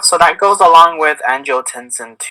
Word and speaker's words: angiotensin: Like antinogenesis 2. I said it wrong. Yeah, I still got it. Angiotensin 2.